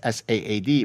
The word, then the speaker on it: Saad: play on sad, S-A-D, whereas my name is S-A-A-D. But sad, if I pronounce it in Arabic, it's sa'ad. It has a guttural sound.